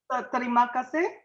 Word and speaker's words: Terima kasih: So how do we pronounce that? Terima kasih.